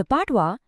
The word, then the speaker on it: patois: हमारा अगला वर्ड है पात्वा। द पाटवा यह एक नाउन है और इसका प्रोनाउंसिएशन है पैटवा।